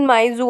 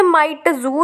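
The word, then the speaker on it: Mi Tzu: फिर एक दिन मिसेस माइजू आती हैं। इसे माइटजू नहीं बोल सकते, इसकी प्रोनाउंसिएशन है मिसेस माइजू, जो कि लैंड लेडी होती है।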